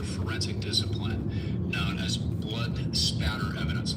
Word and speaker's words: spatter: discipline known as blood spatter evidence. A lot of people mispronounce it and say splatter with an L. It's spatter.